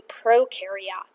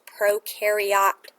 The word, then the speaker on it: prokaryote: the blank next to prokaryote cell. Okay? Sometimes people call it prokaryote as well. But I remember this pro rhymes with no, so these guys have no nucleus.